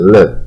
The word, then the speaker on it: live: ，leave 树叶，它是比较短一点的，带一点的 live。Live 啊，不是 live 啊，这是